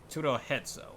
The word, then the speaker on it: HidoriKuro: HidoriKuro, okay. That's how it's pronounced.